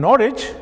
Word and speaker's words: Norwich: And it is not Greenwich, because in Greenwich and Norwich, the W is silent.